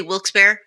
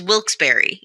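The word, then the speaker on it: Wilkes-Barre: pronunciation of wilberry now locals do tend to say wils be just like real quick but it's wilberry is the name of the town and I only know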